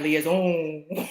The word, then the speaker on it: liaison: like that word liaison you have to say it like Leah's own right she is is